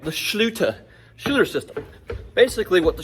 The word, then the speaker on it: Schluter: Schluter system yeah I said it right let's luta sealer system basically what the shooter Schlueter system is today waterproofing membrane for your shower